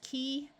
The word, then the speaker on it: key: EY can have a long E sound at the end of a few shorter words, such as key, the name Joey, and this Joey that refers to a baby kangaroo.